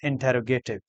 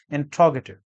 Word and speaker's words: interrogative: Generally, this word is mispronounced as interrogative, because we pronounce words in terms of spelling, which is misleading. This word is mispronounced as interrogative. The correct pronunciation of this word is interrogative.